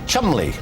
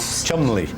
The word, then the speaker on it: Cholmondeley: Sir Richard Cholmondeley, Sir Despard Murgatroyd, Sir Joseph Porter, Sir Bailey Barr.